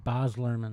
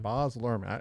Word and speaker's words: Baz Luhrmann: Baz Luhrmann. Baz Luhrmann.